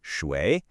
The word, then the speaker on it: 水: All right, first up, this character is Shui. It's pronounced Shui, and it means water.